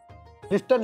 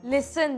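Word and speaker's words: listen: होतं आणि ह्याचं काय लिस्टन लिस्टन लिस्टन अहो लिस्टन नाही हो लिसन लिसन लिसन हं मग ती कशाला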